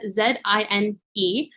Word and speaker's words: zine: it's pronounced it's spelled z-i-n-e and it's like the second half of the word magazine they create a Zine